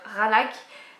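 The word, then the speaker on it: Qaanaaq: C'est la suite de Kanak, qu'il faut prononcer d'ailleurs Ranak, mais j'aime pas dire Ranak.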